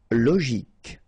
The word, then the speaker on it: logique: Logique. Remember, Q-U-E at the end. K. Logique.